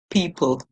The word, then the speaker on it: people: we were looking at e p the always silent and then we have l e at the end of English words we get o o but in my Caribbean accent we would say low people people okay but always remember the l e says oh people people all right in this